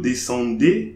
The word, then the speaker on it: descendez: EZ at the end of the verb will be pronounced A, like English alphabet A.